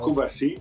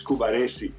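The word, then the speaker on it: Cubarsí: pronunciation of his name it's not kuari it's kuari when he plays like this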